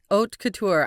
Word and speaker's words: Haute Couture: Yes, Oat Couture.